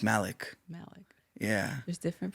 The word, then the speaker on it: Malik: M A L I K. Mhm. You would think it's Malik, right? Right. No, it's Malik.